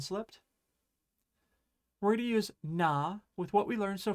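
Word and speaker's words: な: This one is just perfectly straightforward with nothing weird, no weird pronunciations, nothing. Just ordinary. Okay? So we're going to start with na. This is na.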